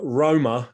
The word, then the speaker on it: Roma: the of the traditionally nomadic minority groups uh roma meaning roma as it should be pronounced recently immigrant romani communities from the continent